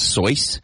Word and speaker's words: Seuss: you did you know his name was actually pronounced so what Dr so yeah I read that started as Seuss and he just never corrected it just let it go Dr so he's not